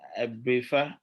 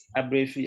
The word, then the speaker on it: Abrefi: I think Abrifa, is that Abrifa, right? Is that correct? Have I pronounced it right? Is she here? Abrefi. Abrefi. Is Abrefi here?